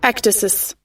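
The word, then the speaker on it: ecdysis: Ectasis.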